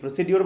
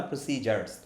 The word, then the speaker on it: procedures: দেখছেন উচ্চারণ কি, প্রসিডিওর বলছে না প্রসিজার্স? তো মনে রাখতে হবে এটা প্রসিজার্স বলে।